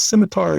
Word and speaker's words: scimitar: Harris jumps in, I'm pretty confident I'm learning that the C is silent for the first time, but that's great. I think it is. At least in my head, it is. It is silent.